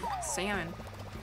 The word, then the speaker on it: salmon: already please thank you salmon caught a salmon as some may say uh they're wrong in saying that the L is silent uh coming at you